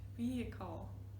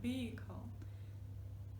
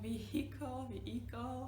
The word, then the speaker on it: vehicle: Okay, one more time, vehicle. Like a car is not a luxury vehicle. Yeah, it's just a means of transportation. Right, so we do not pronounce the H, it's not vehicle, right? So vehicle, very easy, very like